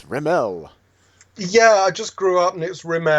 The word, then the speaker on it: Rimell: was my mother's affectation but most people say Rimmel but I've always been taught riml so yeah yeah was that something your mom was a stickler on no no it's riml yeah I just grew up and it's rimel